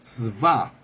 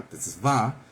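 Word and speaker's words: צוה: La 6680 es tzvah, así como suena, T-Z-A-D, y acento en la tzvah, que quiere decir cargo, encomienda o recomendar.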